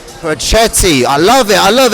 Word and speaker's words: Pochetty: It's pronounced Pochetty. Pochetty.